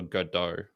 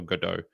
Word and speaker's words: Godot: There's this play, and I think it's called like Waiting for Godot, Godot, and it's French, I believe. So you don't pronounce the T. Yeah, Waiting for Godot.